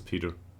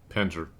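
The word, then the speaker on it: Pentre: I don't know why I pronounced this Peter. Penter. Ton Penter.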